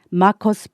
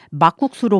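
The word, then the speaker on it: Markus: 남편의 이름은 마커스 브록스입니다. 이름이 마커스고요. 성은 브록스입니다. 스펠링을 말씀드리자면요. M-A-R-K-U-S B-R-O-X 그래서 마커스 브록스인데요. 엄마는 자꾸 마커스를 막국수로 부르시고 브록스를 브록스로 부르시는 거예요.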